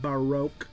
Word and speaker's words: Baroque: it's pronounced is pronounced Baroque like you're drawing out of broke it's the style of